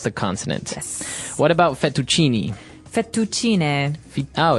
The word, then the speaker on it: fettuccine: in Italian it'd be fettuccine, so you might hear it differently.